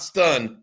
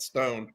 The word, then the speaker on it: Livingston: Stone, by the way, not stun, but Stone. I fixed it for you on this one.